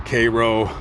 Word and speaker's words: Cairo: 7,000 miles away so all the residents here pronounce it Koo and if you come in here with Cairo they're going to give you the side eye